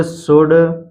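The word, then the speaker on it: should: डी एफ के एम से पहले हमेशा एल साइलेंट रहता है जैसे कुड कुड शुड वड यहां पर आप देख सकते हैं यह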